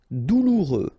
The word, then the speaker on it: douloureux: Douloureux. Remember, final X not pronounced, so you get this OU together. Ou, douloureux. Douloureux.